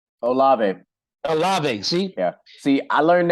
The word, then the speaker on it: Olave: feel like i'm gonna butcher his name chris olivei olave see yeah see i learned that from watching